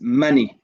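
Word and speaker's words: مَنْ: Man means who, but as we know, when it's followed by the alif and lam, we then pronounce it as mani, man al-akh. So the noon goes from having a sukoon to having a kasra.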